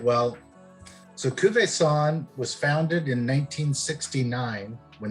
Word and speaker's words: Cuvaison: that's cool thank you uh tonight we're tasting kuvi song and uh am i saying saying it correctly song that's right all right tell us all about it baby all right well so kuve san was founded in 1969 when there were about